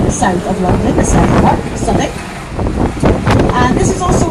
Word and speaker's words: Southwark: So this area is called Southbank, or you might have seen it and thought it was pronounced Southwark.